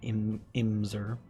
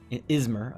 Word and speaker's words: Izmir: And then Imzer or Izmir, not Imzer, Izmir.